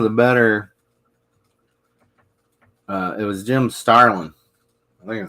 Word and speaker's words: Starlin: It was Jim Starlin. I think is it Starlin or Stalin? I don't know. It's Starlin.